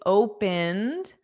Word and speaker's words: opened: Watched watched the replay before he opened. Opened. Yes, exactly. Opened because it doesn't add an extra sound.